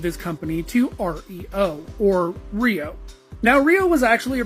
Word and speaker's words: REO: But I assure you that the company was originally pronounced Rio.